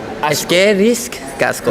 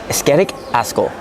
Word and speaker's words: Eskerrik asko: Eskerrik casco. No. Oh, man. All right, so now I see how it's spelled. I think I'll do better this time. Eskerrik asko. Yeah, that one.